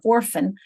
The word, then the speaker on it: orphan: So their base word is a 2-syllable word, or and fan, or fan, but it's because the accent is on orphan, it's on the or, because so here's a schwa.